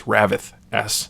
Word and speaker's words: Ravyth: I think it's Ravith S is the pronunciation.